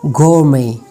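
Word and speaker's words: gourmet: गोरमे, गोरमे. Some random words having T silent, कुछ और भी वर्ड्स ऐसे हैं जिनमें टी साइलेंट हो, जैसे कि आसमा, रेपो, रेपो, आफन.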